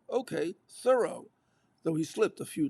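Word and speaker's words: Thoreau: David Thorough a life people aren't used to seeing that name. It's not a New England name and they pronounce it thorough, she said in an interview. So did the man himself, judging from ample contemporary evidence.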